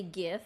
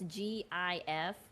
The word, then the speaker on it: GIF: Although it does make more sense to say GIF because it's GIF rather than to pronounce the G as a J, GIF.